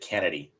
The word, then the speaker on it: Chennedy: out Kennedy Carter actually I think it's pronounced Kennedy because I think somebody actually said yeah she pronounces it that way and put extra emphasis on it she spells it chennedy but but pronounces it Kennedy and punt so Justin